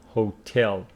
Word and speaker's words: hotel: get a hotel room hotel with the pronunciation and stress stress on the second syllable hotel that's too bad you